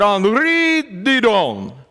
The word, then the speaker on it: Henri Didon: French at all, but Henri Didon, that's how they tell me his name is pronounced.